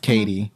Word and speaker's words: Kt: on all your socials it's spelled the capital K small letter T pronounced Katie so that's that's awesome